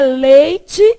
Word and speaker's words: leite: É leite, o I não some e é pronunciado.